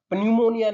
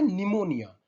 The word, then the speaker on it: निमोनिया: पन्यूमोनिया नहीं होता है ये होता है निमोनिया, NEUMONIA, NEUMONIA। हालांकि ये P से स्टार्ट जरूर होता है, लेकिन इसकी प्रोनाउंसिएशन क्या होती है, निमोनिया। तो इसकी सही स्पेलिंग है, P साइलेंट है, NEU और फिर प्लस मोनिया, निमोनिया।